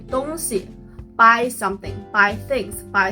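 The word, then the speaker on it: 东西: But when you change the second character into a light sound, 东西 it means something, things or stuff. 买东西 buy something, buy things, buy stuff.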